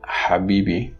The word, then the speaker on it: Habibi: both exist in Arabic the voiceless one the ha appears in the word Habibi which means dear another